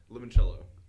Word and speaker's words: limoncello: Oh, I don't like doing because You say I it do like that with a limoncello.